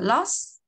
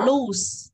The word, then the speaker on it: lose: Cái từ thua cuộc chúng ta không đọc là loss, không đọc lose, mà nó là âm Z cuối á.